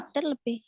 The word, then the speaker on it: lighter: Kalau di Inggris, GH itu biasanya nggak dibaca, nggak ada bunyinya.